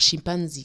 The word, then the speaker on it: chimpanzé: chimpanzé vient d'un mot de langue bantoue. Et c'est bien sûr chimpanzee que ça se prononce pour parler du singe.